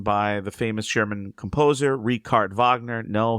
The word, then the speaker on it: Richard Wagner: The bridal course written by the famous German composer Ricard Vagner. No, his name looks like Richard Wagner, but it is not pronounced that way. It's Ricard Vagner.